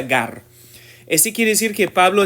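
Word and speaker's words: γάρ: ese conector hemos visto con mucha frecuencia se pronuncia Gar ese quiere decir que Pablo está apoyando es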